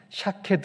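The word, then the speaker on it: שָׁקֵד: 는 말을 이렇게 사용했습니다 히브리어로 살고 나무는 샤 케드 라고 발음이 됩니다 그리고 지켜본다 는 말은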